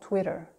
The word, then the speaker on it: Twitter: always that French are always make sure you pronounce the French are in all these words so for example Twitter we're going to say twitter twitter it sounds